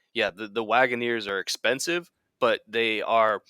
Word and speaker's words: Wagoneer: Well, here in the United States, Wagoneer.